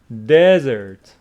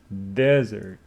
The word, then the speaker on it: desert: So it is dessert with the stress on the second syllable. Dessert. But this one is desert. Yeah, desert.